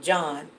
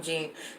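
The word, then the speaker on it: Jean: bottom gene the victim John bottom gene you know we pronounced that gene but I guess it's John he's the complaining witness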